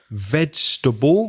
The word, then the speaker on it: vegetable: Mobile, vegetable was correctly pronounced. That's a difficult word. It only has 3 syllables.